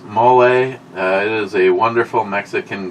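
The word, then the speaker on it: mole: but maybe maybe she's Rich Huff m is pronounced mle it is a wonderful Mexican gravy with mexican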